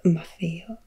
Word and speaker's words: Maffeo: Namely with Niccolo, his father, and Matteo, his uncle, who in the dialect of Venice was called Maffeo, so the T's were pronounced as F.